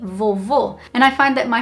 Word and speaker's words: vovô: So, grandma in Portuguese would be vovó, and grandpa would be vovô.